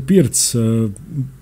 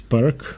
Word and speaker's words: Pirc: So the Pirc, often mispronounced as Pirc or in Croatian Pirčevka, was named after Vasya Pirc, a Slovenian grandmaster, Yugoslavian grandmaster.